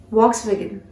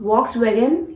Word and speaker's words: Volkswagen: Volkswagen. No guys, you were wrong. This is not Volkswagen. You have to pronounce this brand, this name as Volkswagen. Volkswagen. Okay, how? Repeat. Volkswagen.